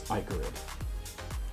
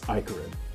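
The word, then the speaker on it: Ichorid: That reminds me, so the name of a card that we've all been mispronouncing for many years now. It's Icarid. What? It's Icarid. Icor is a real word.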